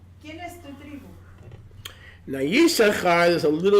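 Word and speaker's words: יששכר: I'm going to give you the proper Hebrew pronunciation. Les daré la propia pronunciación hebrea. Yisachar.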